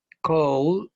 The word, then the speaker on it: cold: Cold, es un sonido que vibra, entonces su pronunciación correcta es cold, con una D al final.